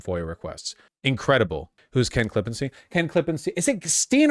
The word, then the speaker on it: Klippenstein: Stein in German, but people don't pronounce it Stein, right? Like Ken isn't German enough that people would be pronouncing it Stein. Like that would be if you were German, but as a non-German speaker, I would just say Ken Klippenstein.